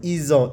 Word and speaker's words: ils ont: So don't say ils ont, we hear Z here as ils ont, isolé, aimer, habiter, this H is silent, just habiter, adorer, chasser, casser.